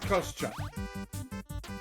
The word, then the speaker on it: Kostucha: Alright, my subtle nods and attempts to repeat the name but using the correct pronunciation has failed, so I'm going to just straight up say that it is in fact Kostucha.